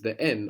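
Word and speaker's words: δεν: together then fani actually in standard Greek you will hear the N being dropped so it's not incorrect to say then but you'll notice in Greek that before some letters the N of then and some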